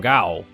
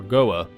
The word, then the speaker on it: Gao: And I would love if we could transfer power from here, from Gao, or Goa. Well, I've always pronounced it, in my head, I've always pronounced it Gao.